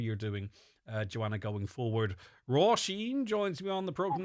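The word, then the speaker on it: Róisín: It's pronunciation, but Dublin it's the wrong like way. Roisin. Like there's the right way and there's the wrong way, and Roisin is the right way.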